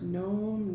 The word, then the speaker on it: gnome: Silent G's start all of those words, gnome, gnat, gnocchi.